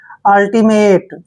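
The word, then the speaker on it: ultimate: Next word U एल, देखिए जब भी एल से पहले यू आता है तो यू का उच्चारण भी ए करते हैं। यू को पढ़ेंगे हम एल, सॉरी ए, और एल को ले पढ़ेंगे, ठीक है, और टी आई को टी पढ़ेंगे, अल्टी, ऐसे अल्टी। एम ए को मे पढ़ेंगे और टी ई का उच्चारण टे करेंगे। अल्टीमेट, देखिए अल्टीमेट, अल्टीमेट क्या होता है?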